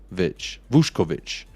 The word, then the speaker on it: Vušković: It says it's pronounced Vušković.